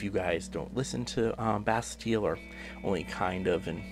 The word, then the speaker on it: Bastille: there or best deal I was not calling basket-like muses pronounced Bastille so that's we call